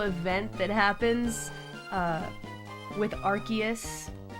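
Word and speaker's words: Arceus: Different times for my I called Archus Arus for the longest time. But then I heard that it's Archus.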